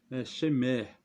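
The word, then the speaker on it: שמר: ele é o chamar ele se pronunciado shimmer nessa minha significa vigilância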